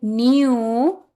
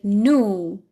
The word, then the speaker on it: new: We can say new or you can say new. Example, their new house is massive. Again, their new house is massive. You have two options to pronounce that word.